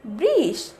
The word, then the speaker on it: বৃষ: এবার আসি ব রিকার ব্রি এবং মূর্ধন্য ষ, তাহলে উচ্চারণটি হবে বৃষ।